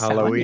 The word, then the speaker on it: Samhain: I'm also about to hold a class, actually, for Samhain, depending on how you want to say it. It's spelled Samhain. It's Halloween. pronounced Samhain, yeah, for Halloween.